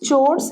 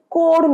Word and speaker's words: chores: House চোরস এই কথাটা খুব ব্যবহার হয়। যারা এই শব্দটা জানো না লিখে নাও, প্রোনাউন্সিয়েশন কিন্তু কোর নয়, চোরস। আরেকবার বলো, চোরস, হাউস চোরস মানে বাড়ির কাজ।